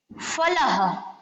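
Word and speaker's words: फलः: फलह, संस्कृत का शब्द कोई भी हो उसके आगे हम अह की मात्रा लगाते हैं, जैसे फलह।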